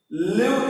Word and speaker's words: live: Live is a word and also noun also. In the noun, the pronunciation is different.